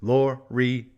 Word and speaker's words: Loriyill: They actually put the pronunciation of the Empire in the rule book. It's Loriyill.